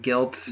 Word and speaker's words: GYLT: The other one was GYLT. I think it's pronounced Guilt.